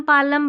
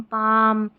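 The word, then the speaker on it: palm: यहां पर L silent कालम पालम बालम नहीं काम पाम और ये बाम तो यहां पर एल साइलेंट है।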